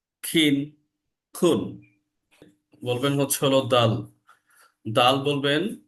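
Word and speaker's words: دال: দালের উচ্চারণটা হচ্ছে হলো দাল, দাল। দালের উচ্চারণটা যখন হয় এটা একটা লং সাউন্ড হবে, দাল, দাল। আমার অর্থাৎ আমার যে দুই দাঁত, দাঁতের যে দুইটা বাটি, এই দাঁতের সাথে আমাদের জিহ্বার যে আগাটা সেটা লেগে যাবে এবং বাংলায় সেটা পরিষ্কার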